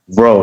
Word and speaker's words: Bro: It's pronounced Bro? Bro, like B-R-O.